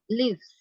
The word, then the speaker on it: lives: Lives. Ya. Nah, di sini yang terdengar adalah seperti suara huruf Z.